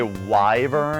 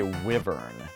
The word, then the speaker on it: wyvern: I've heard people say wver and I've heard people say wyvern I think weav